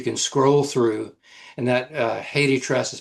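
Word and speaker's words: HathiTrust: And that Haiti Trust is spelled Haithi.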